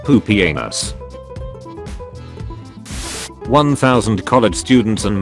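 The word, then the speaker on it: Pupienus: remember that there was a Roman Emperor whose name was literally pronounced poopy anus one thousand college students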